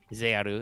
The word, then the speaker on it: Zexal: 5Ds era and are moving into the Zexal era. Or Zearu, as some would say, because in Japan the X is silent, I guess.